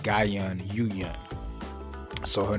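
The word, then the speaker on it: Yoohyeon: and his yu yun yu yun like gaiyan yuyun so her name is pronounced yu yun i was sayin yuhan so i really apologize for that like i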